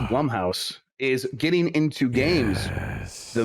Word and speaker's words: Blumhouse: Blumhouse, which I discovered is pronounced Blumhouse, is getting into games.